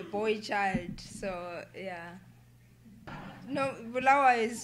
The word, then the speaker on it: Bulawayo: No, Bulawayo is pronounced with a silent B. Bulawayo.